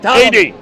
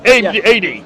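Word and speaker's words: Ptolemy: You're saying but Tommy is from the second century. Yeah. 80 the P is silent. 80.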